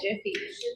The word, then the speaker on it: GIF: Steve White has the founder or the creators of it stated it should be pronounced Jif.